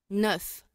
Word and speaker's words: neuf: Ya, recuerda que la EU se pronuncia como una sola U.